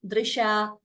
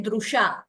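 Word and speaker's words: दृशा: So we should not say Drusha, that it is not U, it is not Dra and U combined, it is Dr.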